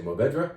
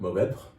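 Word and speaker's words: Mourvèdre: You can say Mourvedre if you want, but Mourvedre, you kind of gasp that last syllable rather than uttering it.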